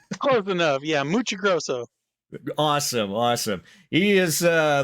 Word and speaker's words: Muccigrosso: like to introduce everybody to Matt mus Roso yeah I say it right close enough yeah muchi Gro awesome awesome he is uh the writer of